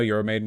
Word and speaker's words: Euromaidan: Just so you know, Euromaidan is pronounced Euro Maidan. I will never care, and I will never pronounce it that way, and I don't care.